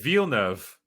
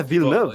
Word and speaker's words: Villeneuve: It's like I always say it Villeneuve. Yeah, Villeneuve. That's how you pronounce it.